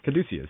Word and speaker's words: Caduceus: There's the symbol of the Caduceus, or Caduceus, I think that's Caduceus. Yeah, that's how you pronounce it.